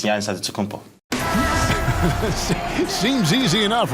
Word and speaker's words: Antetokounmpo: a D, so it's Antetokounmpo. But in the Greek way, you say with the NT, like Antetokounmpo. Whatever you got, just say, you know, it's Giannis Antetokounmpo.